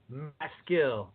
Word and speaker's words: Maskill: get through so here I am with my skill God pronounce that right you did Sean 100%